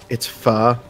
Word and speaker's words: pho: Pho, I think Oh, a lot of pho. people call it, but it's pronounced pho. If you go really technical and like the proper pronunciation.